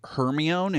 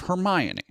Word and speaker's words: Hermione: This is why many so many kids grew up saying Hermione instead of Hermione because it was a name in a book and if you sounded out phonetically, a lot of kids will go uh Hermione they'll they'll sound it out and that's what they go with, right?